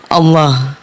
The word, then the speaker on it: Allah: Makanya sebut Allah itu enggak boleh tipis. Allah, Allah. Karena kalau tipis, maaf ya, kalau tipis ada orang tipis kan bacanya Allah, enggak bergetar. Allah itu cuma bergetar di leher, Allah. Allah juga di leher, Allah. Tapi yang sampai QBU itu yang lafaznya Allah. Allah. Allah enggak bergetar sampai sini.